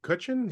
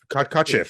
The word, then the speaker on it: Kotcheff: The fact that Ted Kutchin, how do you say Kotcheff, sorry. The fact that Ted Kotcheff,